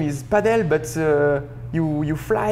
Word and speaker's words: Padel: to fly it's like my name is French it's padel and the pronunciation it's the same like uh no wings you know in France padel it's no wings and um when uh